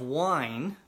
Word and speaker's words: wine: That E at the end of wine, we sometimes call that the silent E because we don't pronounce it, but it can change the pronunciation of other vowels in the word.